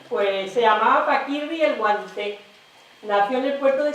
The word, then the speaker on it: Guanter: Guanter, se escribe Guanter, pero bueno, tanto en valenciano como en andaluz se dice Guanté.